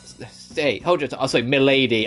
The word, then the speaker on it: Milady: you however middle day Milady I still get Soul hackers on the Mind where they have a character and called Melody but it's spelled Milady so I always impossibly go